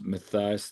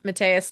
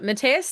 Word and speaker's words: Mateus: One player I want to ask about was Matthias DePaula. Mateus DePaula. Yeah. Why I keep saying Matthias? It's okay, because of the way it's spelled. But no, Mateus DePaula, another U18, and who's been really crushing it.